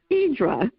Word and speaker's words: Hydra: want to go uh to hydra which in greece they pronounce in idra which is interesting and i'd like for